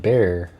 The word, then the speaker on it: Bexar: a harsh H and making the X silent resulting in the simple bear sound like the animal or bear, you know, like bear.